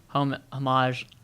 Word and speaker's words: homage: Netflix has announced that the Duffer Brothers' highly popular 80s homage. How do you say homage? Homage. Oh, God. Netflix has announced that the Duffer Brothers' highly popular 80s homage. Think of it as Spanish.